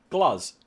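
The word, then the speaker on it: Gluz: can never Alissa White Glaws or Glazz? Glaws. Glaws.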